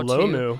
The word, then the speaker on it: Lomu: He's an offensive tackle out of Utah, Caleb Lomu, I believe is how Lomu. Yeah, I believe that's how you pronounce his last name.